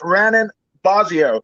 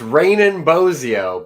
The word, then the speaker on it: Raanan Bozzio: yeah it's all good raining like it's raining outside and bozeo like bozo the clown so but yeah like